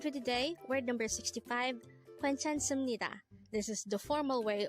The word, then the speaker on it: 괜찮습니다: So looking back to the third syllable, as you can see, it ends with a biop character. And it is normal in Korean language to switch that sound into a mium sound when it is followed by a neon character. And that's why it is pronounced as sum instead of sup.